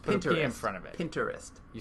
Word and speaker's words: Pinterest: pinterest i say pinterest pinterest because it's like because it's an interest it's that's how you say interest pinterest i just painted in front of it pinterest you say interest pinterest